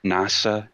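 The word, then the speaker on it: 星空: name uh that's because his name is written as hoshizora starry sky but it's pronounced nasa as in nasa as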